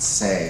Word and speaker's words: Hsieh: And I'm pronouncing it Shay. I know in Taiwan they pronounce it Say, so if I'm saying it wrong, am I saying it wrong?